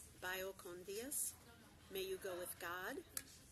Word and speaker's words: Vaya con Dios: Vaya con Dios. Again, the V is pronounced with a B. Vaya con Dios.